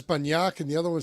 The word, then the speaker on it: Banyak: Both are acceptable, but it's more Banyak. But you'll get corrected every time. Yes. Banyak, because that sounds like BUN.